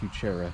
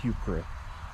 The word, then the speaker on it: Heuchera: a purple hue chera evidently that's not pronounced you chera supposed to be heuchera which sounds stupid to me and it spells you chera so that's on them my raven a